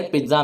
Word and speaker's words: पीसा: दोस्तों, दुनिया का ये एक ऐसा अजूबा है जिसको पीसा टावर के नाम से जाना जाता है, लेकिन इसकी रियल प्रोनाउंसिएशन पिज्जा है।